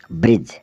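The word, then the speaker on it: bridge: चलते हैं D alphabet की ओर जिसमें डी साइलेंट रहता है बी आर आई डी जीई ब्रिज ब्रिज मतलब पुल ईडी जी ई जज जज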